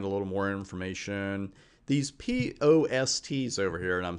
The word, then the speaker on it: POST: These POSTs over here, and I'm saying it that way for a reason, but usually it's pronounced post.